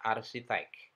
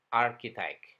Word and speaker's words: architect: Hanya kita sering membacanya seperti ucapan bahasa Indonesia, arsitek. Padahal harusnya diucapkan architect. Dengan K, bukan dengan C atau S, tapi dengan K.